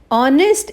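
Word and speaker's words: honest: ऑनेस्ट एच से start है, consonant से स्टार्ट है, लेकिन इसकी वॉवल साउंड से स्टार्ट है, और ऑनेस्ट एच साइलेंट है, सो इसके साथ एन आना चाहिए, ए नहीं आएगा।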